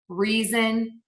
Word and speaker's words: reason: movement is voicing so when you see again that letter s between two vowel sounds we're going to pronounce it as a z like in the words cousin reason and teasing so those are all